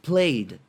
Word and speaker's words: played: presente aí por leira olha pronúncia plaid plaid como se fosse igual em cima só que com um dia mais uma pronúncia aí Play presente aí played passado o Vinícius todos